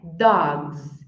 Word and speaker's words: dogs: dog dog no plural Você falou como você falou Dogs ou Dogs como você falou o correto é Dogs e eu já vou